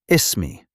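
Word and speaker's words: اسمي: To say my name is you say ismi. Let's break it down. ism. Now add your name. Ismi again. Ismi. Perfect. Example is mem Ahmed. Ismi s. You can also say ismi which means I my name is.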